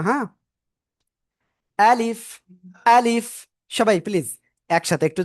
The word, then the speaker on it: ألف: আ একটু জোরে ধাক্কা বা হবে শক্তভাবে। তারপরে লিফ, শেষে এসে নিচের ঠোঁটের পেট উপরের দুই দাঁতের আগার সাথে লাগবে, লেগে হালকা বাতাস বের হবে। আশা করি ইনশাআল্লাহ সবাই ক্লিয়ার। আলিফ আলিফ আলিফ, কোনো টান হবে না।